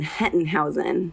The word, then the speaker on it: Hettenhausen: Right, yeah, it's German. Hettenhausen. Hettenhausen.